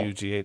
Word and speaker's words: Hugh: Yeah. Hugh. That's how it's pronounced.